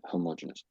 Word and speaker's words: homogeneous: Homogeneous. Yeah, homogeneous. So, that's the official way, but I have I have heard other people say it the way that you have said it. So, so don't don't be too worried about that. But there is effectively two ways, but most people do say homogeneous.